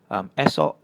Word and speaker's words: esok: This one relates to the second rule so you can see it's always E paired with an O, you get an "eh" sound. For example: esok, ekor, and korek.